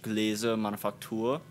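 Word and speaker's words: Gläserne Manufaktur: I have the Volkswagen Transparent Factory, but in German it is pronounced Gläser Manufaktur.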